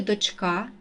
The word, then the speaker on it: дочка: наголос у поданих словах у слові дочка наголос падає на другий склад ознака наголос падає на